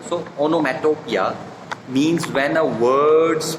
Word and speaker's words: onomatopoeia: So onomatopoeia, so second O is silent, not metopoeia. So onomatopoeia means when a word's pronunciation imitates its sound.